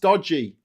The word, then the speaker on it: Doge: Doge pronounced dodgy.